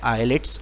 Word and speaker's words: islets: बेटा इसमें एस साइलेंट है तो इसको बोलते हैं आईलेट्स ऑफ लैंगरहेंस।